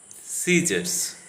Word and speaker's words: scissors: C is silent after an S and before an E or an I, as in the following words coming to the screen: seen, science, scissors.